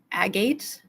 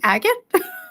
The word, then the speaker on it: agate: I feel so bad correcting people sometimes, but it's just like, agate? You mean agate?